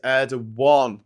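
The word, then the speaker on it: Erdoğan: The correct Turkish pronunciation is Erdogan.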